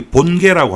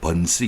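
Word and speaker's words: 本溪: 그래서 여기 본계라고 하는 데가 있죠. 번시 이렇게 발음을 하는데 본계에서 이제 심양으로 들어가는데 여기에서 상당히 큰 교역이 아마 이루어졌을 겁니다.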